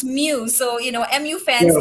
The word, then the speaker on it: mu: manchester united fan so apparently it's now pronounced mew so you know mu